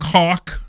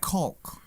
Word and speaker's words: caulk: and and dump coke. Yeah It's an L. It's a Caulk. No, I think the L is silent in that one.